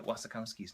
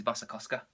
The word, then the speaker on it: Wasikowska: I think that we've been pronouncing Maya Wasikowski's name wrong. I think it's Wasikowska. Probably.